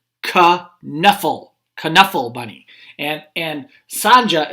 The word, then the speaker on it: Knuffle: saying trixie is saying ka knuffle knuffle bunny and and sanja is saying knuffle the k is silent like a knife or knight but she said ka